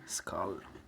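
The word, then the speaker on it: Skål: No, I like the idea of 5,000 FM operators, but Espen, Skal. Skal, am I pronouncing it correctly? Skal.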